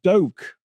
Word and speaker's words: Duque: Pronounced Doke.